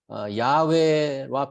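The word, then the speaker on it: יהוה: imfim이라고 소개합니다이 im이 히브리 im의 히브리 발음이 야외입니다 제가 여기 뭐 히브리어를 써놨는데이 단어가 아이엠이라는 단어인데 이게 히브리 말로 읽으면 야외와 비슷합니다 카톨릭에서 한글 성경을 얘기할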